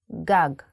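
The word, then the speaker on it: גג: that you already can write another Hebrew word GOG this means roof in handwriting GOG and in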